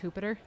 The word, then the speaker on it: Jupiter: And then I'm sure Jupiter is actually pronounced Hoopiter. I was thinking that too. You know? Yeah. I don't. It's not really a Yeah. hard J sound, but I believe that